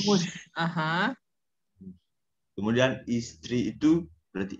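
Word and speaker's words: муж: Kemudian Mush, suami istri muj. mush, Istri mush. itu Bukan muj, muj. mush.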